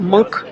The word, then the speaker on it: Munch: He told us about how if you go to the I say the Munch Museum, but it's he pronounced it the Monk Museum.